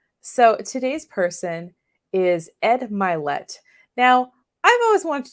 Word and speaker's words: Mylett: today's person is Ed mlet now I've always want to do this guy because his name his last name rhymes with my last name and not many things